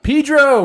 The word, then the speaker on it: San Pedro: people your name what how do you pronounce the name of the place that you live oh um San Pedro Pedro he did it not Pedro wrong one yeah wrong one all right